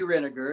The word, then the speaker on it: Renegar: I have a Facebook page that's Renegar, and it's spelled like renegade, sounds like vinegar.